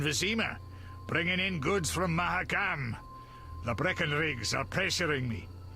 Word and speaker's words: Mahakam: And also, the later games pronounce it as Mahakam, not Mahakam.